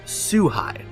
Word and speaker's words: Szuhai: a theory today brought to you by Jonathan sue hi I made sure to say it right the